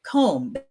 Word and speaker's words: comb: The word comb for comb your hair. We don't pronounce the B. We say comb.